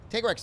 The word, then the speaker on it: Tigrex: bunahabra rather than banabra tig rex tiger x makes sense too i would put that in second place as opposed to tigrex on don't come